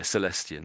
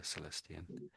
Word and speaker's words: Celestion: Yeah, Celestian. That's it. That's how I would pronounce it. Yeah, Celestian.